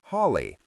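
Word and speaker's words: Halley: Halle's comet came in 1759 and 1835. He pronounced the name Holly.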